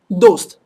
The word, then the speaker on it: दोस्त: No, so make sure it's completely touching the upper portion, and push the air from the back, the, all right? So dost.